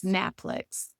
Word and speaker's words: NAPLEX: The correct way, which is NAPLEX.